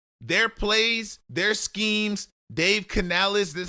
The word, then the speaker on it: Canales: Dave Canales, that's how you pronounce his name.